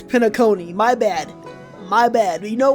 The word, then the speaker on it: Penacony: talking about they cringe every time that I pronounce Penacony. It's Penacony.